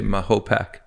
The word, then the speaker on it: Mahopac: Well, the way to remember, to get really corny, is just think of a Native American dropping their pack of cigarettes in a lake, and he would say Mahopac.